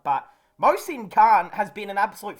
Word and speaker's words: Mohsin: I think the H is silent, but Mohsin Khan has been an absolute find of the season.